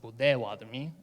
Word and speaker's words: Potawatomi: To give you a little background, Pottawatomie, which is a French spelling of the word, it's traditionally pronounced Pottawatomie.